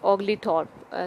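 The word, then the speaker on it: Oglethorpe: that एक social worker था और parliamentarian James ओगली थॉर्प spelling बता देती हूं जेम्स जे एमएस जेम्स के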